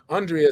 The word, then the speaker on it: Andrea: So Andrea says it's like mitochondria. Did I say it right? Andrea says it's like mitochondria. So as long as you remember mitochondria, you don't forget Andrea.